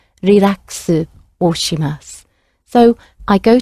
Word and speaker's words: リラックス: We came across this word, relax, which is an English word, slightly elongated to fit Japanese pronunciation, relaxu or shimasu.